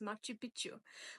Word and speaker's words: Machu Picchu: the one the only Machi Picchu um or I and I might be butchering this Machi Picchu which is what the locals actually pronounce that and that's not actually